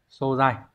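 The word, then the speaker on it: 素材: Chữ tố sẽ là xô không trường âm. Như vậy chúng ta sẽ đọc là xô dài.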